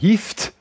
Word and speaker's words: IFTTT: Alors, qu'on prononce, si j'ai bien compris, IFT. Et ça s'écrit IFTTT. Hein, il y a trois T.